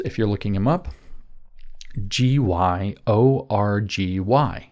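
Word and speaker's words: György: you're looking him up, Gyorgy. Gy is pronounced a bit like a J in Hungarian, apparently, and if I'm wrong, I don't care.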